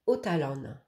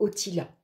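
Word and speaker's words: Othala: qui nous accompagne et c'est otalan ici ou alors otila hein ça dépend comment on la prononce donc voici la rune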